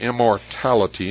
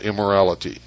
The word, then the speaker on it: immortality: It's immortality, not immorality.